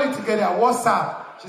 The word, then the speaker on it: WhatsApp: I say, mommy, it's not what's up, it's WhatsApp.